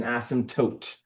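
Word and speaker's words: asymptote: Uh the P is silent like in pterodactyl, right?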